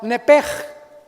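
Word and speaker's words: נפש: La palabra vida, apúntalo en el hebreo, es la palabra nepej. Nep. Se escribe nepesh con sh al final y es alma.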